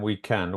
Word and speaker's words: weekend: it's the noon afternoon what about weekend have two cables yeah and this stress is in end very good yes we can